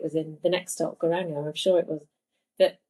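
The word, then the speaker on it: Geiranger: Yeah, so it's Helisit, but it's very close to Garanga. Garanga.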